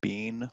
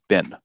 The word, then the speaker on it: been: also present perfect and the pronunciation for this is not being like we're eating beans for dinner the pronunciation is usually been the criminal has been arrested it's been arrested like how do you say garbage bin throw it in throw